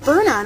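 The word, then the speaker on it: Byrna: whole time I have it's the cane of Burna not the cane of bar I used to always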